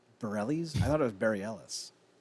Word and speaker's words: Bareilles: Sarah Bareilles is in this as the balloon guide, and she's the best part of the entire season.